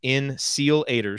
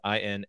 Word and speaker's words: Insealators: That's Insealators, spelled like it sounds, Insealators.